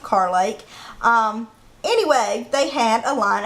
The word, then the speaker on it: Carr Lake: Some people would pronounce it Kerr, but here we pronounce it Carr Lake.